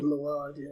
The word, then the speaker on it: Mylod: Yeah, is that how you pronounce the last name? Mylod, yeah, he did.